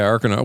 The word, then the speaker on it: Arkanoid: Arkanoid. Is that how you say it? Yeah. Yeah, Arkanoid.